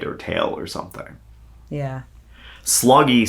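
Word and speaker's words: Sloggie: this Captain uh sha I believe it's pronounced sloggy s g g i e Sean sloggy s o g g i e s SL o gg i e yeah I'm gonna go with that unless you correct me no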